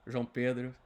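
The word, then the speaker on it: João Pedro: Jean Pedro, that's the right way to say it if you guys are wondering for the right Portuguese way of saying JP's name.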